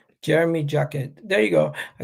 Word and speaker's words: Jérémy Jacquet: How do you pronounce his name? Jérémy Jacquet. Jérémy Jacquet.